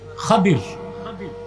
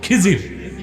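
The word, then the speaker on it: خضر: উচ্চারণটা কি? খাদির, বিফাতহিল খা ওয়া কাসরিদ দাদ, খাদির। আমাদের দেশের লোক বলে কি খিজির, এটা ভুল উচ্চারণ, শুদ্ধ উচ্চারণ কি? খাদির।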